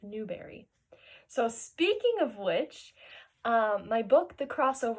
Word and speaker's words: Newbery: tell people is that my favorite color is blueberry and I say that because it rhymes with Newberry so speaking of which